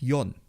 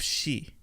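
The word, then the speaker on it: 四: 4 means yon. Okay, there's a second reading of shi. Okay, don't worry too much about this one yet. For now, just remember yon. The reading of shi will eventually come out. All right, for now, just remember it as yon.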